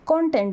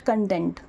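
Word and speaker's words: content: सो अभी मैं जो यह कंटेंट पोस्ट कर रही हूं सोशल मीडिया पे, YouTube पे, this is कंटेंट। This is नॉट कंटेंट।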